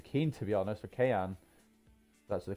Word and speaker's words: Kean: They might have sold Moise Kean, to be honest, for Kean. That's the correct pronunciation.